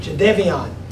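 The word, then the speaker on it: Jadeveon: us jadeon right Co johnon was the correct pronunciation so we want the Gamecock fans to to learn that Jade Devon and uh he's coming with the Gamecocks we've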